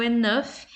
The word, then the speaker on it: enough: E o enough é uma exceção, o GH é falado aqui nessa palavra, né?